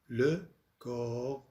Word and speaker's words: le corps: le corps الجسم الإنساني. الاس والبي لا تلفظ. le corps بي واس لا تلفظ مع أنه مفرد.